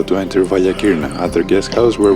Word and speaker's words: Valia Kirna: before, the dreaded Devil's Valley, or as the locals say it, Vasilakis, and try to apply everything I learned about photography throughout the years.